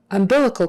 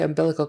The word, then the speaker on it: umbilical: oh you indeed sound umbilical chord umbilical chord the accent is on that second syllable umbilical umbilical bilical cal